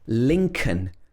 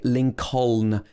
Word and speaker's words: Lincoln: heard of this one lincoln here we don't say lincoln the second l is silent it should be lincoln lincoln have you ever